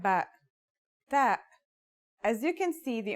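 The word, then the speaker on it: ث: our final letter is that's like the th in the English word Thief pretty easy right that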